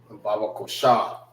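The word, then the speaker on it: Babaqashah: Baba kosha. Baba, which is spelled B A B A Q A S H A H.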